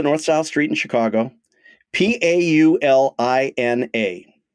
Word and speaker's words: Paulina: South Street in Chicago p a u l i n a so my instinct would be to pronounce it Pauline but since you're asking me maybe it's Paulina you are very good